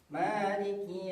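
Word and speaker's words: مالك: Pada ayat yang keempat ini kebanyakan orang itu salah pada huruf kafnya. Karena ada yang bacanya huruf ee qf ini karena ketebalannya itu orang bacanya ada yaumiddin. Sedangkan yang betulnya itu agak ditipiskan seperti huruf kaf maiki yaumiddin.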